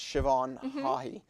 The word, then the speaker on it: Siobhan: pool and really just a name that is pretty tricky if you see the spelling of it it's like SI obh aan but it's pronounced Siobhan and so you always remember